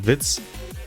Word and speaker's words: Witz: That is a bit of a pun in German, because in German Witz, as in W-I-T-Z, but pronounced the same as V-I-T-S in English, means joke.